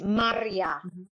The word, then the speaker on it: Maria: the like for example how I say my my name in Polish is Maria like Spanish they you twist the tongue I can do it